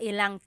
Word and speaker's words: ilang: wanted to show you, you can make a contraction again. Instead of mga ilan na tao ang darating, it's mga ilang tao ang darating. About how many people are coming. So that's just a pronunciation tip. Make that contraction to make it flow a little bit better.